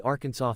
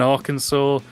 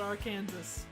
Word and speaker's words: Arkansas: the meme so there Kansas and Arkansas but Arkansa is spelled like Aransas so why is it not called Aransas explain explain no you will have your ass kicked if you call it AR Kanas and here's another one